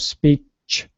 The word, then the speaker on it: speech: Cha at the end it's a CH so it's freedom of speech chaa not sh CH speech that's a little